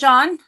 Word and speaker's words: Jaun: Would you please pronounce how you say your name? My name is Jaun.